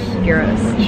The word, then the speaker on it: gyros: finally getting our gyross we found out that's the proper way to say it Heroes she woke up talking